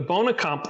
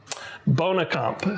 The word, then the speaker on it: Boonekamp: And in Germany, the Bonekamp, this thing kind of like Jägermeister, has one